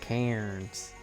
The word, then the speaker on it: Cairns: It's spelt Cairns, like Cairns. But, you know, we pronounce it different. Instead of Cairns.